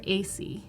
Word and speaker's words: Asay: name is pronounced AC yes we that are wondering hmm like the letters AC or think ACDC yeah yeah okay so